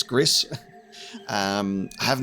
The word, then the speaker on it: Gris: Uh so I am aware that this studio did the game uh Gris Grease, however you want to pronounce it. GC, I'm pretty sure it's Gris.